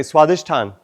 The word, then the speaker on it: Swadhisthana: Swadhisthana. Pronounce it correctly. Swadhisthana.